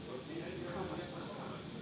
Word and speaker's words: Comment ça va: And this one is more formal where they you speak to strangers if you don't know you would say comma ça va.